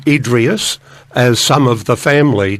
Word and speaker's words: Idriess: um uh around uh it pronounced a number of different ways around the D Tree he's it's called Idris uh the Australian dictionary of dictionary of biography calls him idras uh I call him idas as some of the